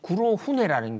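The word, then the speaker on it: 黒船: 그래서 이 구로훈에라는 게 흑선을 얘기하는 일본식 그 발음이에요.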